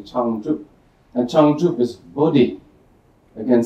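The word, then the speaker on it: བྱང་ཆུབ: And in Tibetan, again, two syllables, changchup, changchup, and this is the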